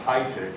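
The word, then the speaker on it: Heitic: i got from thomas i believe this uh is pronounced hi tick h-e-i-t-i-c who is a council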